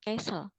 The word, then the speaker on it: castle: Jadi castle ya, T-nya itu silent atau hilang. Kayak dibaca castle.